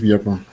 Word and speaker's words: Biapan: on reçoit notre invité du jour, Monsieur Steve Biafon. C'est bien ça? Steve Biafon. On ne dit pas Steve, on dit Steve. Oui. Ça s'écrit, c'est compliqué à prononcer.